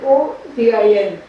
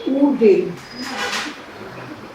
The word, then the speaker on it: Odin: And the godhead of the skies is written O-D-I-N. So we said Odin. He said no, you have to say Udin.